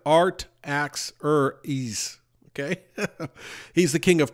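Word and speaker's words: Artaxerxes: of of the king are terexes or our taxis my pronunciation isn't great but you could look it up looks like art ax or ease okay he's the King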